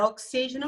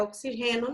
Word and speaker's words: oxígeno: É oxígeno mesmo, não é oxigênio, não. Nostalgia está incorreto, porque no espanhol a gente fala nostalgia, a sílaba tônica vai estar aqui.